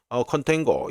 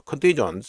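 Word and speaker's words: contagion: 몰라큘러 컨테인고 이래야 되는데 컨테인고가 아니고 컨테이전 이래야 됩니다.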